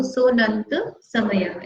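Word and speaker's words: सोऽनन्तसमय: 40 number का सूत्र, सोनंत समय। और साइलेंट है तो उसको सोनंत समय इस तरह से पढ़ेंगे, अवग्रह लगा हुआ इसमें।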